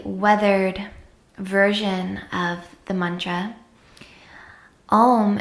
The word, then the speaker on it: Om: version of the mantra ohm is actually comprised of three separate syllables ah-oh and mmm with the lips closed so if you were